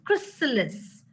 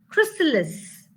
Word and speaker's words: chrysalis: It's not cry, but it is chrysalis.